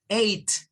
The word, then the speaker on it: eight: Pero lo cierto es que es tan sencillo como solo decir a. Vea, es como quitar la G y la H como que no existieran para la pronunciación y solo pronunciamos esas dos.